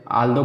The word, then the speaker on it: although: जैसे वे, और यही नहीं आप कहते हो, ठीक है, आल्दो कहते हो, ALTHOUGH, इसमें देखिए लास्ट में आया है।